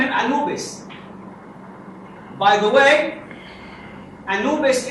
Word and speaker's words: Anubis: By the way, Anubis is the Greek way, as you know, of pronouncing Embu. The name in hieroglyphic Embu.